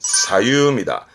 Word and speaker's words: 左右: 요게 중요한데요 좌우 그죠 좌우 발음은 사유입니다 이때는 가요 시험 때